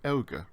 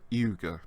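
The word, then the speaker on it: εὖγε: And if we want to say, okay, all right, and agree with someone, we can say euge or iuge, depending on how you pronounce the initial diphthong there.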